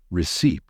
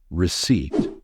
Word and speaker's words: receipt: you pronounce it correctly remember the p in receipt is silent we don't say receed the correct pronunciation is receipt and please don't mix